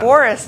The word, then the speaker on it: Booras: It does, Booras. So Yeah. Booras, normally we would spell B-O-R-I-S, right? But you spell it B-O-O-R-A-S.